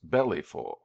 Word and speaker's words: Belleville: to Tucson had said his name was Belleville but somebody in Tucson had pronounced this bellyful it was then vain